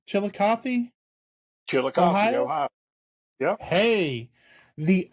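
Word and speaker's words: Chillicothe: uh, coming up and I am going to butcher the name of the town. Is it Chilikoth? Chilikothy.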